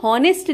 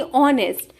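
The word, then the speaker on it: honest: टू बी हॉनेस्ट नहीं बल्कि ऑनेस्ट, यानी कि एच साइलेंट होता है, आप पढ़ते हैं ऑनेस्ट।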